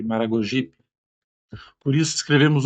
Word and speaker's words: Maragogipe: Ao contrário do super, o P está no grupo das posposições átonas, ou seja, esse P ele nunca leva acento tônico. Não pronunciamos Sergipe, Maragogipe, mas Sergipe, Maragogipe.